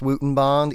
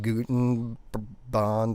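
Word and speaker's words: Goudenband: leifman's wooten bond and it is pronounced wooten bond even though it looks like guten bond or something like that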